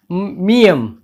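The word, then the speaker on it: 미음: फिर इसके बाद है मियम। मियम, इस अक्षर का नाम है मियम, और इसका उच्चारण केवल म होगा।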